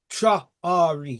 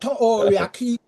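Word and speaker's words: Traoré: It is Tra-Ori. Priori. Yeah, man. Priori. Tra-Ori. It is T-R-A-O-R-E. Tra-Ori. Not Tory. People keep saying Tory, even Main just pronounce it wrong.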